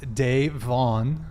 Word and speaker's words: Davon: you back man uh my name is pronounced Dave Vaughn my bad man I'll